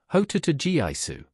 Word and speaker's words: Hototogisu: There is a mysterious bird called the Hototogisu which plaintively cries its own name, dividing it into syllables thus, Hototogiaisu.